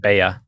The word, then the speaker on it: bella: But in Spanish, 2 L's is its own letter. It's a Y sound. So it's spelled the same, but you say it. Bea.